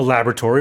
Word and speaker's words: laboratory: which means it's been created or developed in a laboratory or basically a scientific environment.